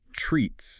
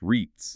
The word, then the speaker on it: REITs: estate investment trusts, which by the way are pronounced treats. Just kidding, they're pronounced REITs. Yeah, REITs.